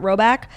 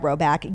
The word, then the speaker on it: Rhoback: And I love shopping the men's stuff at Roback.